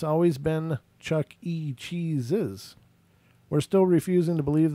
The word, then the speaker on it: Chuck E. Cheese's: So they're saying it's Chuck E. Cheese's, not Chuck E. Cheese. Right. Chuck E. Cheese was what people believed it was, but there's actually an apostrophe S.